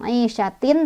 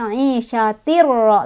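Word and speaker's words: عِيشَةٍ رَاضِيَةٍ: Cara bacanya tanwinnya langsung masuk ke ro. Jadi bukan aisyatin tapi aisyatir ro, langsung masuk. Ditekan aja, nggak usah ditahan karena idgham bigonah itu dimasukkan tanpa berdengung.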